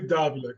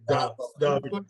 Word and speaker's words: Davila: It's technically Davila as well. Davila? Yeah. Like Kamala when we were going through that. Sort of, yeah, with the accent on the first A. Davila.